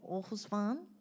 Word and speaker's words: Aarhus: with our friends from Osan did I say it right yes and from the water